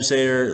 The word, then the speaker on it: Seder: Like Sam Seder, like Cedar, there, I just did.